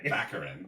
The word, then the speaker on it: Baccarin: keep saying back the same thing you're saying baccarin yeah am i not saying it right no